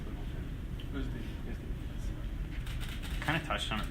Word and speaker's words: Oezdemir: Comment vous prononcez votre nom? Oezdemir.